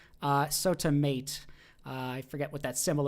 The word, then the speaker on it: SOTAmat: I think they mentioned to pronounce it like mate, maybe as an automate, SotaMate. SotaMate.